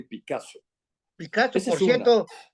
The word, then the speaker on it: Picazo: olvidar Santos balmor y Picasso Picasso Por cierto se escribe diferente Pero se pronuncia igual que del maestro Pablo Picasso verdad y otros pintores